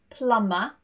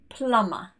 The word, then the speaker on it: plumber: Let's take the example of plumber. This also has a silent B, only because that ER is an additional suffix. The root word is plum, plumber.